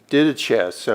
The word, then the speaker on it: didache: This word teaching is taken from the Greek word didaches, I believe is how you pronounce that, where we get our